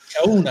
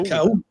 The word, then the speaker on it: Kauna: Kauna, accento sulla U, giusto? Kauna. Sì.